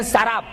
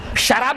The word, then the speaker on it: سراب: میراج میں سراب، اس کو بعض لوگ سراب پڑھتے، غلط ہے وہ. قرآن حکیم نے جو تلفظ بیان کا، جو پروننسیشن، وہی صحیح پروننسیشن ہے. سراب، شراب نہیں، سراب.